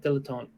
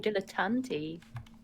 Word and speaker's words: dilettante: How do you say it? Dilettante. Yeah. Yes. Hang on, let's see if this will pick up. Oh, dilettante. I thought it was dilettante, but maybe that's like the French.